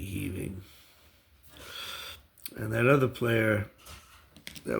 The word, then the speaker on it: Heving: It's spelled Heving. I wasn't sure if it was Heving or Heaving, but after doing a little research, I came to the conclusion that it should be Heaving.